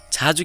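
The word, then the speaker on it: 자재: यसलाई किन छाजे भने त जाजे नभनेर? किनभने ज चाहिँ शब्दको अगाडि आएको छ र ज शब्दको अगाडि आउँछ भने त्यसलाई जहिले पनि हामीले छ भनेर उच्चारण गर्नुपर्छ र शब्दको पछाडि आउँछ भने र शब्दको अन्तिममा आउँछ भने त्यसलाई हामीले जहिले पनि ज नै उच्चारण गर्नुपर्छ। त्यसैले यसलाई छाजे भनिएको हो।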